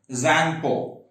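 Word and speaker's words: Tsangpo: It originates in Tibet, and when it originates in Tibet, it's known as the Zangpo. What is the name of Brahmaputra in Tibet? Zangpo. T is silent.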